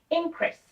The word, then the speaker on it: increase: if I want to pronounce it as a noun it would be something like increase so the stress would go in the first syllable however if I want